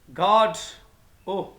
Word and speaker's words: Godot: Beckett said we should pronounce it with the emphasis, हमें इसका तलफ़्फ़ुज़ अदा करना चाहिए इस ज़ोर के साथ, इस ताकीद के साथ, ऑन the first syllable गॉड ओह, बट अ लॉट of people से गॉड ओह।